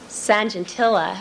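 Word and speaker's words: Sajantila: an individual in Holland by the name of um Sanjentillaa I I believe that's how you pronounce the name S A J A N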